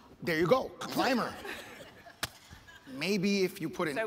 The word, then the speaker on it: ClimRR: ClimRR, I'm not sure even how to pronounce it. Well, we pronounce it Climber. There you go, Climber.